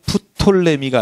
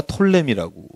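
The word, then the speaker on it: Ptolemy: 이집트와 이 지역 전체를 다스리고 처음에는 팔레스틴까지 다스렸던 322년에 알렉산더 대왕이 죽은 다음에 다스렸던 데를 누구라고 말하면 P 사운드가 묵음이라고 되면 프톨레미가 아니라 톨레미라고 말씀을 드렸죠.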